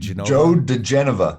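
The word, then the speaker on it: Joe diGenova: Joe DeGenova.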